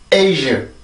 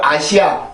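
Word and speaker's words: Asia: 그러면 A, A, ዥ, ዥ, A, ዥ, 에이즈, 에이즈, 에이즈. 다시 한번 에이즈, 에이즈, 에이즈. 한 번 더요. 에이즈, 에이즈, 에이즈. 자, 이렇게 발음을 하세요. 절대로 아시아, 아시아 이렇게 발음하지 말고 에이즈, 에이즈 이렇게 발음을 해주는데 지금 보면 여기에 있는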